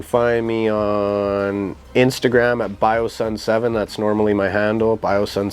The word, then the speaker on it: BioSon: bios and music or biosun seven so yeah man that's how you can find it and my name is pronounced bio sun we're actually getting ready